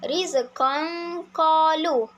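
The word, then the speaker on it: رزقا قالوا: Maka cara bacaan bagi hukum ikhfa hakiki adalah rizqan qalu. Rizqan qalu. Dengungnya perlulah jelas dan nyata.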